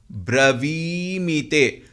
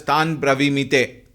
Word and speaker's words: ब्रवीमि ते: Tan bravimite. Many people chant as Tan bravimite. There we should be very careful. Bravimite. Wherever there is dirgha, it must be pronounced properly. Please take care on that.